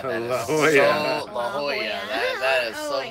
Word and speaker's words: La Jolla: La Jolla is La now Jolla, yeah.